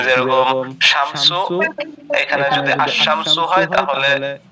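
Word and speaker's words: الشمس: জি যেরকম শামসু, এখানে যদি আশ-শামসু হয় তাহলে এখানে হচ্ছে আলিফ লামের উচ্চারণটা হচ্ছে না, তো এদেরকে হরফে শামসু বলে।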